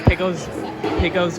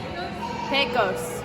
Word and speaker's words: Pecos: Pico's Grill? You say it because I'm going to pronounce it wrong. How do you pronounce Pico's? Pecos? Pecos.